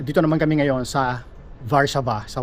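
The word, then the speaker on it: Warszawa: By the way, ang tamang pronunciation ng Warso sa salita nila ay Varsava.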